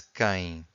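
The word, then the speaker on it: quem: question words we have the first one is K so this youu here is silent so k k it means who so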